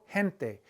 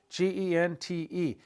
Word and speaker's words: gente: G-E, the word for people, gente. G-E-N-T-E, gente, gente. It's the soft G.